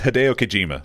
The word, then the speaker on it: Hideo Kojima: that good keep it Joe how do you pronounce his name its Hideo Kojima that was close no II work anyway like